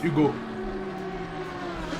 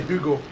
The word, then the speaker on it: Hugo: Yeah, in French you don't pronounce H. So it's just Hugo, it's Hugo. You don't say Hugo.